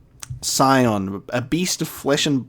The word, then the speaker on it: Scion: And he finally got verbally named, and I'm pronouncing it correctly. Scion, a beast of flesh and blood.